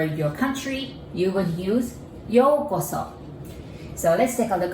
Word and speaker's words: Yōko: yoko and so so in japanese though we actually write it like you in a japanese character but they're all you there so you pronounce it like o but you know this seems very confusing so to make it easier we just put the bar there yo so if you